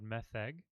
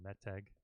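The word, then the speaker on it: מֶתֶג: This is called metheg, or meteg, depending on how you pronounce that, tav.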